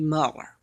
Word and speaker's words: Muller: Okay, the Matthew Mueller, I'm going to say Muller, that's how you pronounce it.